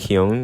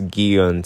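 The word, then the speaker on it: 기훈: this pronunciation, looking back, in Korean, It's pronounced more like Gi-hun when I was just watching it back. And then in the English dub, it's Gi-hun.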